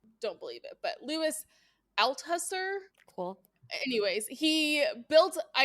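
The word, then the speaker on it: Althusser: name and I don't believe it but Lewis Al huser cool anyways he built I have read this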